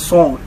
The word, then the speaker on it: Sawnd: Well, you can contact me on Facebook, it's Sawnd Factory. So the Sawnd is not the normal spelling, S-O-U-N-D-S. It's S-A-W-N-D.